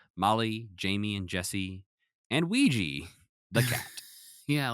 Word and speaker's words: Ouija: Jamie, and Jesse, and Ouija, the cat. Yeah, like the Ouija board.